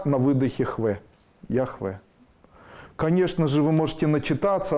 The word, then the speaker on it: Яхве: В современном русском языке принято произношение с ударениями на первый слог Яхве.